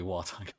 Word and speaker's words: Walton: his name Walton gogins that's how his name said yeah that's Walton said W no it's w it's literally walon um but yeah he